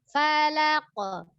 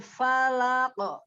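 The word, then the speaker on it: فلق: Falaq, bukan falak. Ya, nggak ada perubahan itu di gigi di dalam itu, bukan falak. Tapi falaq. Bentuk mulutnya tetap diam ketika dia punya pantulan ko-nya itu.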